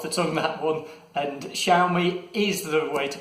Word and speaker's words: Xiaomi: And Xiaomi is the way to pronounce this.